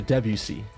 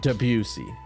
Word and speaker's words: Debussy: So it's supposed to be pronounced closer to Debussy. Not Debussy.